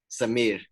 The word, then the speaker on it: Samir: A lot of people say like Samir, but it's actually pronounced Samir. You got to roll it up. Samir.